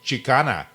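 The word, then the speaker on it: Xicana: It's going to be called Chicana, spelled with an X, not a CH.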